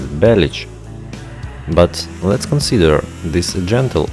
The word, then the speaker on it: Bellic: By the way, it is not clear why his surname is pronounced as Bellic, although in the Serbian version it will be pronounced precisely as Belic.